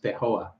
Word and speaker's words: Feijoa: I'm trying to pronounce it like Brazilian, and it's not. I mean Portuguese, but it's not Portuguese. It's Spanish, so it says Feijoa.